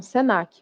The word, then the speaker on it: Senac: Caixa Baixa tá então Senac você lê como uma palavra fio Cruz você lê como uma palavra Embrapa também você lê como uma palavra então você não pronuncia letra a letra como acontece com IBGE